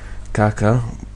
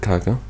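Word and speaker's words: کاکە: have Kaka meaning s some people might pronounce it as Kaka both both ver both vowels are are long Kaka but the first one is more correct Kaka meaning sir or mister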